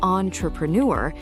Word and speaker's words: entrepreneur: When you say on, your jaw drops slightly. It sounds more relaxed, more boutique. Think of other words like encore or entree. They all share this on sound.